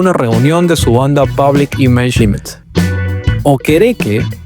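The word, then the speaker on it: Okereke: O quere que, now I said it right, stated that Lydon was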